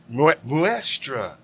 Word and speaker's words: Muestra: Muestra. M-U-E-S-T-R-A. Muestra.